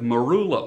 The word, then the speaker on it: marula: companies have conditioners they would say now with marula oil now marula oil what the heck is marula oil let me spell it m a r u l a marula